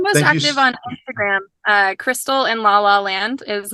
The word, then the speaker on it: Krystle: so I'm I'm most active on Instagram uh Crystal and la la land is my handle and it's my name is spelled weird it's k r y s t